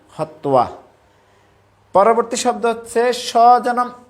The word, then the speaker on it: হত্বা: তো সংস্কৃতে এটাকে উচ্চারণ করা হয় হত্তোয়া। হত্যা বললে ঠিক নেই, হত্তোয়া।